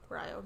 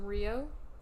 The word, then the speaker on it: Ryo: name, and it is Ryo, but you said... It was originally pronounced Rio in Clone Wars, but apparently in Bad Batch they changed it to Ryo.